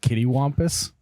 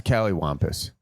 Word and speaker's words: callywhampus: Is that the correct way to say that? Isn't it kittywampus? No. Wampus? It's callywhampus. I think it's Callywhampus. I don't know what it is, but in Wisconsin, it's Callywhampus. In Fargo, maybe it's like